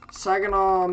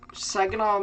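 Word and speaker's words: Saginaw: Sagenol Michigan Sagenol Michigan. That's a song. So that's how I know how to say it properly.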